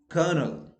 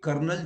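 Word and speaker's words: colonel: walk talk half salmon kernel now you see uh interesting thing is that in india we change l into r so we say kernel chopra but no there is no r okay because the spelling is c-o-l-o-n-e-l so l is silent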